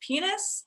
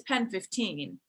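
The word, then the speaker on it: PEN15: he think that the title of the show is actually pronounced penis? Because I think it's Pen 15.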